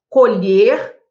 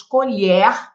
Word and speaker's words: colher: Nós temos colher, com timbre fechado, e nós temos colher, com timbre aberto.